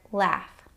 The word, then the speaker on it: laugh: The next sound the letters gh can make is an f sound. f like in the word laugh or it can be silent like in the words though or right.